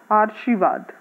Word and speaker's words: आशीर्वाद: के साथ में इसका, तो अगर इसको हम लोग बोलेंगे, इसको प्रोनाउंस करेंगे तो क्या होगा, आ र शी वाद, आशीर्वाद। ये शब्द जो है जिसका यहाँ रे बना लगा हुआ है, उसको अगर उच्चारण करते हैं तो वो आशीर्वाद शब्द है।